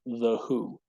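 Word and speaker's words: The Hu: a Mongolian heavy metal band called The Who if you haven't heard the who audience it's spelled h u look up wolf tot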